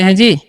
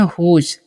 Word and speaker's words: whose: WHOSE है, तो इसे हम पढ़ते हैं हुज। आपको हम हमेशा बताते हैं कि जब भी लास्ट में एसी रहेगा उसका उच्चारण ज करना है।